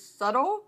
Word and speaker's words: subtle: And when I would ask people to write how to pronounce it, people will say, well, the B is practically silent and you're just, and it's very faint.